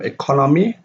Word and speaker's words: economy: Economical, economical, and the stress is on the third syllable, which is economical comes from economy, a noun. The stress of economy is on the second syllable, and then when it changes into an adjective, it becomes economical.